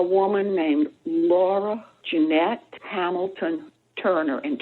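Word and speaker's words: Toerner: named Laura Janette Hamilton Turner and Turner is spelled t o e r n e r it's a German spelling may have written the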